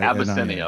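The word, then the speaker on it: Abyssinia: So, to start off with, can you just tell me how to pronounce the name of the restaurant? Sure. Abbiscinia. Ab SSI. Abiscinia.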